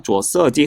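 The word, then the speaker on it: 着色剂: 착이라고 우리가 들러붙다는 표현을 할 땐 주어라고 발음합니다. 주어 써지 허 쩌광지 쩌광은 햇빛을 차단하는 제 뭐 태양 뭐라고 해야 될까?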